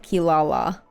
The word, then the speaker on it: Kirara: It's kind of like how Kilala in Inuyasha is spelt Kirara, but they say it Kilala.